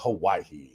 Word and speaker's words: Hawaii: I used to always call it Hawaii, with the H, but after spending some time there, the H is silent, I'm told, by the Hawaiians that live there.